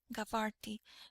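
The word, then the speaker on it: Jabarti: His family had been settled in Egypt for seven generations and had taken the name Giarti or as it is pronounced in Egypt, Gavarti from their first home.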